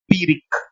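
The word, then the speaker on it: Pyrrhic: ये इसका उच्चारण है, ये प्रोनाउंसिएशन है, ऐसे प्रोनाउंस होता है शब्द पीरिक, राइट, पीरिक। और इसको जब लिखा जाता है तो कुछ ऐसे लिखा जाता है बेटा, पी वाई आर आर एच आई सी, ये इसका उच्चारण है,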